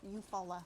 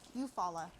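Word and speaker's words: Eufaula: Uh, the YouTube meetup, the Mid America uh, meet up at Eupola Lake. Eupfalla Eupfalla.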